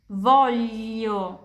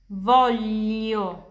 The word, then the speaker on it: voglio: Voglio, voglio, saya mau.